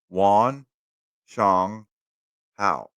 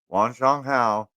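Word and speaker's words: 晚上好: is uh good evening to say good evening three syllables Juan Shong how Wan Shong how good evening okay is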